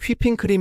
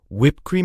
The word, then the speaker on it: whipped cream: 영어 에서 는 "whipping cream" 이 아니라 " whipped cream" 이라 고 발음 합니다 . " 휘핑 " 이 아닙니다 .